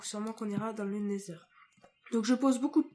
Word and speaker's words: Nether: vous allez me dire ta prononciation elle est nulle et tout ça c'est Nether ne Nether oui parce que ne oui non c'est pas la même chose c'est Nether donc sûrement qu'on ira dans